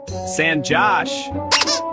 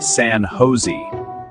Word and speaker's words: San Jose: San Josh. It's actually pronounced San Jose. Oh, really? Yes. In English here, the J is pronounced like H.